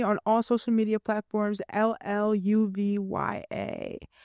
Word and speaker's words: Lluvya: Lluv Ya, pronounced with a J.